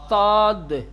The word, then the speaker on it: صاد: کم حجم ہوتا ہے، اس کو تھوڑا سا موٹا بنا کر کے صاد صاد صاد، سیٹی نہیں نکالیں گے اور تھوڑا سا موٹا۔ اسی سین کو، جو سین ہے، سین کو جیسے تلفظ کیا جاتا ہے، سین کو جیسے ادا کیا جاتا ہے، اسی سین کو تھوڑا سیٹی کم کر دیں اور تھوڑا موٹا بنا دیں تو یہ ہو جائے گا صاد صاد الصراط صراط الذین